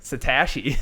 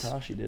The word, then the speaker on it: Satoshi: guy that you fight satoshi satashi that's how you pronounce there's no super power it's satoshi satoshi satoshi say like a real japanese person last name first he